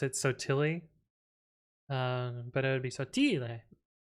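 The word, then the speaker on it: Sottile: the poor whitewashed version of it um we pronounce it so tilly um but it would be more true italian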